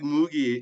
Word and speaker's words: Mogie: so I came up with mogie as a short form for my name because it rhymes with Boogie and my show was